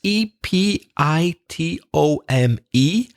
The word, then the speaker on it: epitome: is the known its ep I t om e and strangely the final E is pronounced it's not silent epitome although sometimes reza's